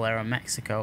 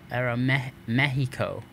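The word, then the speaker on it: Aeroméxico: And then this is all Aeromexico or Aeromexico. That's how they pronounce it.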